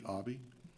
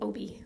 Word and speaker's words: Obi: Um, Obby, if I said it right. Uh, sorry. No, it's still Obi, like Obi-Wan Kenobi.